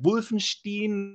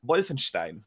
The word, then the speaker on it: Wolfenstein: You're as close as I've ever heard any American pronounce it properly, because most Americans pronounce Wolfenstein actually something like Wolfenstein or Wolfenstein. Yeah, Wolfenstein is one I hear a lot. Yeah. It's Wolfenstein.